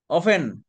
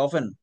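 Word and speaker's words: often: তাইলে তো হইলো না অফেন মানে প্রায়ই টি এর উচ্চারণ নাই কিন্তু এটা অফটেন বোঝেন নাকি আবার এটা অফেন হ্যাঁ এটা সঠিক অফেন মানে প্রায়ই অকেশনালি মানে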